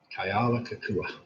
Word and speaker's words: Kealakekua: Kealakekua. That's how it's pronounced.